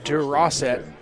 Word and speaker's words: Durosset: Yeah, nice touchdown catch there by number 85, Durosset is how you pronounce that name out of Central Catholic.